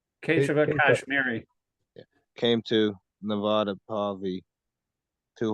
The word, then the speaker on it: Keshava Kashmiri: How do you pronounce that name? Keshava Kashmiri.